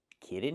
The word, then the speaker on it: kitten: You cannot pronounce the word kitten. It's pronounced kitten. When I have t e n at the end of a word, the t is special. I cannot pronounce it like a fast d like when I say water bottle. I cannot say kitten. I make the stop t and go directly to the n sound.